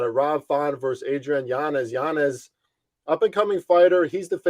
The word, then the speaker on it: Yanez: and it's funny because his last name's actually pronounced Yanez. He came out on Twitter and just said that recently because everyone's always said it Yanez, but Adrian Yanez is